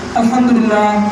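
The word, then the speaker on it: الحمد لله: সুবহানাল্লাহ সুবহানাল্লাহ, এইভাবে আলহামদুলিল্লাহ আলহামদুলিল্লাহ আলহামদুলিল্লাহ আলহামদুলিল্লাহ, এইভাবে আলহামদুলিল্লাহ আলহামদুলিল্লাহ, এইভাবে না, হা উচ্চারণ করতে হবে আলহামদুলিল্লাহ আলহামদুলিল্লাহ, এইভাবে।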